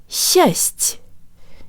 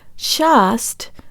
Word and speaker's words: счасть: position for the ah vowel, so the whole syllable sounds like this. Счасть, счасть. Not shast, but джо танк липс, счасть, счасть.